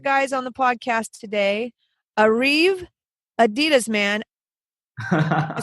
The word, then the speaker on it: Ariv Adiaman: man I'll say it Adie mine and awesome kasam I'm gonna butcher the last name Siddiqui how you guys say it say it correctly so my name is Arriba demon and I'm Qasim city nice there we go